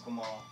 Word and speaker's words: Gamal: excellent my name is Kamal always help people pronounce with a lowercase G hello everybody sees that G and they want to do jumbo and it's not gentle as gum or in these hansoms